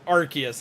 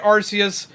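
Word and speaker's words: Arceus: it is actually pronounced archus it's how they pronounce it in the anime so that's supposed to be what the universal pronunciation is I have been calling it arus since game came out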